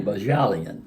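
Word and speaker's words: Bohjalian: Chris Bahajalian. Bahashlin? Bajalian. Excuse me, Bajalian.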